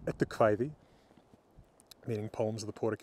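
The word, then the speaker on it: Eddukvæði: And look for Edu Kvæði, again, or well, in modern Icelandic pronunciation, Edu Kvæði, meaning Poems of the Poetic Edda.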